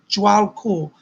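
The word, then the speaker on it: Djwal Khul: But Jwal Kul, it's spelled DJWALKUHAUL, I believe. Jwal, it's pronounced Jwal Kul, is around you.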